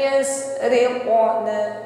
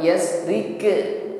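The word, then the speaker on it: يسرق: Yasriqu bukan yasrike, bukan rike tetapi riqo.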